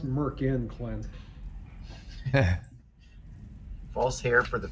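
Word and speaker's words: Myrkul: a Bane ball and Merkel m-y-r-k-u-l m-y-r Angela Merkel Steve Merkel from the 80s it's pronounced Merkin Clint false hair for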